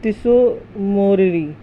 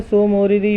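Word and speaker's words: Tso Moriri: ये है तिसोकर और तिसो मोरिरी। ऐसे सोकर या सो मोरिरी भी बोल देते हैं, टी साइलेंट भी कर देते हैं। वैसे तो तिसोकर और तिसो मोरिरी ज़्यादा बोला जाता है।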